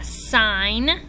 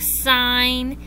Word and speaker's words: sign: In words like sign and gnome and gnaw, what words do you not hear? That's right. You don't hear the G. All of these words have a silent G. You don't hear it.